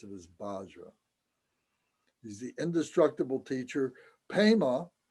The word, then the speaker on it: Vajra: They don't have a V sound in their vocabulary, in their alphabet. There's no V sound, so they use the ba sound is, and then we translate it as Vajra, but they pronounce it as Bajra.